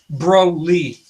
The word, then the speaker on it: Broly: by 15 140-pound Cole press watercolor Johnson is pronounced Broly yeah so remember to put in the description